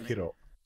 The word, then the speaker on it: Sekiro: Sekiro. It's kind of all syllables are the same intonation.